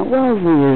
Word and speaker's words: Wellesley: Now Wellesley is a kind of rhymes with wealthy, okay?